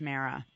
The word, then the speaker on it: Mara: Yes, you can call me Mara, even though it's pronounced Mara.